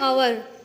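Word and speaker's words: hour: लेकिन इसकी जो प्रोनाउंसिएशन है आवर, तो ये आवर है, ये क्या ऑनेस्ट, इसका एलिफेंट, ये ऑनर हो जाएगा। तो प्रोनाउंसिएशन देख लीजिए, ये आवर है, मतलब एच क्या है यहाँ साइलेंट है, तो जो इसका प्रोनाउंसिएशन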